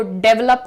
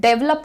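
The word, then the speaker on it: develop: डेवलप करने की जरूरत डेवलप कुछ नहीं होता है जो प्रोनाउंसिएशन है ध्यान से देखिएगा यहां पर आपको कहना है डिवेलप D well up डिवप proper पहले जब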